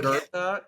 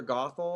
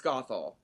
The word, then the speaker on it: Gothel: Mother Gertha, Mother Gothel. Okay. It's Gothel. It's Mother Gothel.